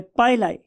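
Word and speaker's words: pili: का नाम होता है पाइलाई। बहुत से लोग इसे पिली भी बोलते हैं, लेकिन मेरियम वेबस्टर डिक्शनरी के प्रोनाउंसिएशन के मुताबिक ये पाइलाई है, राइट।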